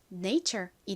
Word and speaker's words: nature: 이렇게 완성해 주시면 되죠 읽어 보면 Nature이 됩니다이 단어를 한 곡식으로 표기할 때에는 보통이 R을 받침을 빼고 표기를 해서 네이처 이렇게 표기하는 경우가 많아요 발음 한번 따라해 보세요네